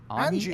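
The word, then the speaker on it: Anje: The A has to be prolonged. If you don't prolong the A, you're doing it wrong.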